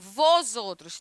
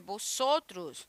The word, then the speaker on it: vosotros: Não é vós outros, é vosotros. Vosotros é um B que você fala.